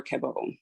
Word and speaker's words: Cabot: So the first person I want to discuss here is Laurie Cabot, High Priestess, or Cabot, if you don't pronounce the T.